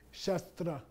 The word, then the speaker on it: shastra: Sanskrit combination okay okay this is not pronounced with a retroflex because this is real Sanskrit okay shastra it's not shra okay